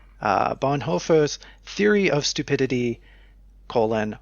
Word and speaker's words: Bonhoeffer: theory of stupidity colon we have this hoe it is h-o-e and it's like heifer no I I looked up the pronunciation that's how oh but now I'm being about this they use one of those they use one of those o's with the crosses for it on the pronunciation guide so it's just one of those noises English doesn't have and it's like an